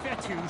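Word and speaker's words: Fetu: here comes fourth down so coach fetty spelled f-e-t-u for the longest time i was pronouncing it coach feta like feta cheese so let's just say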